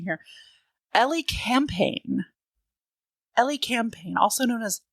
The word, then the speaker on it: Elecampane: I'm talking about Let me find my phonetical pronunciation here. Ellie Campaign.